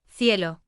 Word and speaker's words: cielo: are pronounced as C, which is the same sound as the English th in think. So is pronounced cielo and zapato, zapato.